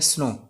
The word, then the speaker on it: Snow: स्नो नहीं बोलेंगे, यहाँ पर ई नहीं होता है, तो आप काफ़ी लोग इसे मिस प्रोनाउंस करते हैं। स्नो ई नहीं होता है यहाँ पर। स्नो वाइट केवल स्नो बोलेंगे, स्नो, ठीक है। जैसे स्लो बोलते हैं स्नो ऐसे ही बोलेंगे, ठीक है।